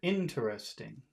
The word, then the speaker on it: interesting: Yeah, so it's the Interesting. first syllable that you want to emphasize.